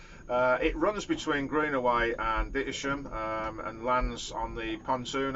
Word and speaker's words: Dittisham: It runs, well, as we would pronounce it down here, Dittisham as it's spelt. It runs between Greenaway and Dittisham and lands on the pontoon outside the ferry boat inn.